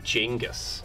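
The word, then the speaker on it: Genghis: are direct descendants of gingas Khan I actually heard that you pronounce his name jingus oh good but I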